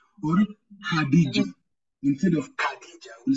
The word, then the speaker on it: Khadija: Or in the word Khadija, we'll not say Khadija, we'll say Khadija.